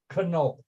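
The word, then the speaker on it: Knohl: of studying with Israel canol k n o l i always would have referred to him as n but he pronounces the K he's canol and Israel canol a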